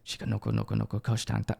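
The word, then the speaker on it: Shikanoko Nokonoko Koshitantan: Shika, did I say it right? Shika Noko Noko Noko Kosh Tan Tan. Right? Let me see. Shika Noko Noko Noko Kosh Tan Tan. There, yes.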